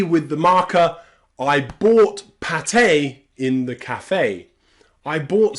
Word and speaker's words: pâté: You'll also find the letter E pronounced A in really rare, exceptional words like pâté and café.